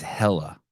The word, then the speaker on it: Jelle: Yeah, I think this guy's name is Hella. Hella? But it's spelled Jelly. Jelle.